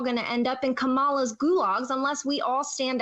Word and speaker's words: Kamala: to end up in kamala's gulags unless we all stand up together and fight back as Christians kamala's Gulag okay first of all her name is pronounced Kamala not Kamala I don't know why people